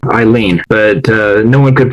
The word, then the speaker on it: Alainn: This one, instead of the word Eileen, this is how you pronounce it, Eileen, but no one could pronounce that, so I changed that to suddenly.